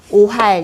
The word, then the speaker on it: 오활: 뜻인데 현실감이 없는 것을 오할 이렇게 말을 해요이 음은 오도 되고 우도 되고 그러는데 지금은 오르다가 발음을 더 많이 해요 도그미 오할 이래서 어